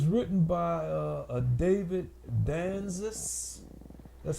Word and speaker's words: Danzis: It's written by a David Danzis. That's spelled D-A-N-Z-I-S.